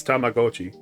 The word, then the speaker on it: Tamagotchi: Although if you actually pronounced it correctly, it's Tamagotchi.